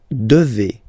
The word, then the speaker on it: devez: Okay, and then vous devez. Remember, classic ending for vous here, a Z, but then you pronounce this combination of two letters, et, devez, vous devez.